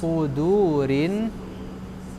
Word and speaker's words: صدور: إله الناس من شر الوسواس الخناس الذي يوسوس في صدور الناس Sudurin. صدور الناس. Nanti begini, kalau ini hurufnya sin, bacanya su. Su ya kan? Tapi kalau hurufnya sad, su.